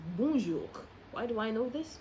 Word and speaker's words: bonjour: If I were to ask you to pronounce this word n, you're probably going to say bonju. But that's a false pronunciation. The right pronunciation is bonjour.